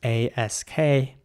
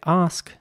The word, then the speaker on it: ask: English people would say ask and an American people would say ask so again it's ask with an r in British English and ask with an air sound in American English here's an example for